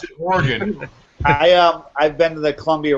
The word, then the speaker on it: Oregon: We pronounce it Oregon.